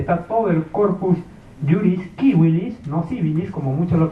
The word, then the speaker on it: civilis: Porque la C para los latinos, para los romanos se pronunciaba como K de kilo.